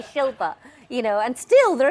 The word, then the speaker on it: Shilpa: Because, I mean, at the end of the day, you know, Shilpa, 2 syllables, not that difficult.